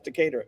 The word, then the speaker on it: Decatur: I'm going to mispronounce Decatur or Decatur. Yeah, that's right. That's Decatur.